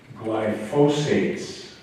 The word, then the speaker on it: glyphosate: But I think we want to look at the general category of glyphosates. I've been mispronouncing it all week long too, but glyphosate, G-L-Y-P-H-O-S-A-T-A, long O, long A.